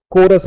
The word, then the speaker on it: chorus: हमारा अगला वर्ड ये भी काफी अच्छा वर्ड है, इसको हम लोग कोरस पढ़ते हैं। यहाँ पर भी H जो है वो साइलेंट है, CHORUS, कोरस, जिसका हिंदी अर्थ सहगान होता है।